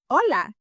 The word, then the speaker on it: hola: way, you would say hola. Hola. If you see the word has an H, but you don't say hola, you don't pronounce that, the H is not sounded in Spanish, it is mute, so you say hola.